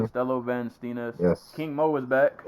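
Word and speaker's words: Costello van Steenis: Costello Van Stenis.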